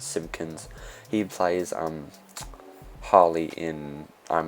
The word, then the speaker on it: Simpkins: That's how you say his name. It's a weird, strange last name, like Simpsons, but Simpkins.